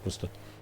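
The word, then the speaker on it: Worcestershire: Wor the Shire on the end. H you can drop it. It's sometime sometimes the entire SH is silent. Just Worester.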